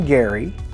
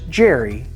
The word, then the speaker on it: Gerry: Yes, he pronounced his name Gary, but it's come down to us as Jerry, and gerrymandering has been a part of American politics ever since.